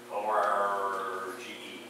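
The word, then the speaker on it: orgē: O-R-G-E is how we spell it in English, but it's pronounced orge in the Greek.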